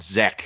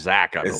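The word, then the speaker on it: Zech: yeah and it's it's zack right they're not zek he'd spelled zek but pronounced zack zack yeah yeah yeah that's that's another that's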